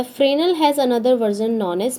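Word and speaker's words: Fresnel: अब है फ्रेनल pronounced as फ्रेनल मतलब इसको फ्रेनल बोलते हैं।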